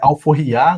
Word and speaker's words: AlforrIAH: né, até mesmo pelo nome que a gente traz, né, e é Alforria, né, a pronúncia, justamente para pegar essa ideia da IA, de inteligência artificial, né, e tem um Hzinho ali no final, né, de humanizada, né, a gente quer que